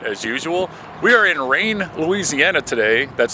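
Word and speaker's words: Rayne: this is Matt as usual we are in Rain Louisiana today that's spelled r a y NE e for those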